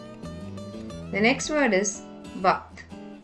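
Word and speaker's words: वक्त: The next word is vakt. In this word, the letter ka becomes the half letter and joins the letter tha, making it to sound ikt. Vakt, vakt.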